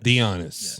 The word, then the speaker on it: Dionys: Yeah, so it's Dionys, but it reads like you're saying Dionys. Dionys. Like if you're saying let's be honest, yep. It's Dionys. Dionys.